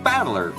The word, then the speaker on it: Battler: far the problem is my given name is made up of the characters fight in person and it's pronounced battler put all together you